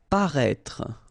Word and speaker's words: paraître: we had as well this accent circonflexe on the top of I here, but then you don't pronounce it, okay, so you should write it definitely because, you know, that's the correct way to write it, but then you don't pronounce it. Paraître, okay, same thing, final E is not really pronounced, so paraître.